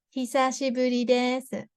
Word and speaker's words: 久しぶりです: while, you can say, 久しぶりです. So, this H sound, he, so we pronounce first letter. First letter is he. Some people struggle with this pronunciation.